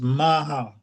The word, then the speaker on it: Maacah: It says it pronounced as Maha.